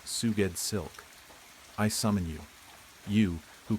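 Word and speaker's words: Sgoueddslk: S G O U E D D S L K pronounced Suged Silk.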